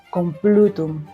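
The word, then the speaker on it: Complutum: Yo ahí no la mido, pero lo correcto, porque al final en el latín eh la sílaba tónica va a ir siempre a crear esas palabras llanas en el centro de la palabra. Lo más correcto sería con Plutum, o sea, el plu sería la parte tónica.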